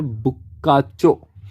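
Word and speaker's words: Boccaccio: और इसका प्रोनाउंसिएशन है बुक्काचो, है ना।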